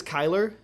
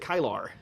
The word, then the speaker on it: Kylar: his name was Kyler, right? It's spelled like that, but he pronounced it Kylar, like Kylar.